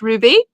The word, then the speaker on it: RWBY: So Rainbow Phoenix says the RWBY is pronounced Ruby.